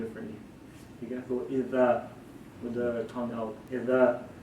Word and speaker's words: إذا: But in Arabic language, when we say the letter zal, that comes out with our tongue. So we say idha. You pull out your tongue and you say idha.